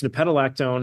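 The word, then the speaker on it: nepetalactone: Unfortunately, I made the worst possible name for my Substack because no one can pronounce it. But it's nipetolactone.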